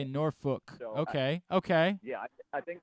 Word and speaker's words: Norfolk: with the accent that will say it like Norfolk, like Nawfik. I say it more like Norfook, like Nor, and then rhymes with book. That's how I say it. Norfolk.